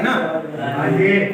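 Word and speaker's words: know: और ये भी एक पेट कानून है, तो समझ आ गई ना। मसलन के बाद एन आता है नो, यानी आप इसको नो पढ़ेंगे।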